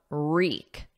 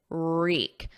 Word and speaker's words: wreak: Now notice the pronunciation of reek, reek. There's no W, it's silent. So it starts on a R, and then the vowel is E, reek, reek.